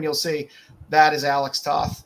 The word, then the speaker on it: Toth: Thank you for the pronunciation there. Alex Toth. There you go. Toth.